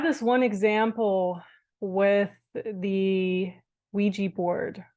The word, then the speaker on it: Ouija: playing with Ouija boards took me a while to figure out how to pronounce that by the way you spell it the o u i g j a um I think it's a creole word if I'm not mistaken I'm actually not even sure but I think it comes from like the Caribbean so I was like how do you pronounce that Ouija Ouija and it turns out it's Ouija so a Ouija board is